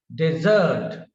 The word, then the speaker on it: desert: And when it is a noun, then the stress is on the first syllable. Decrease, decrease, decrease, decrease. This is the difference. Here, as a verb, desert, desert, desert, desert, desert, desert, desert.